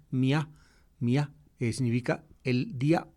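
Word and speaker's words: μία: Y es la costumbre de, digamos, de acentuar ese, de volver aguda la palabra, que es donde pues decir, el acento disolvía el diptongo y pronunciaban mía.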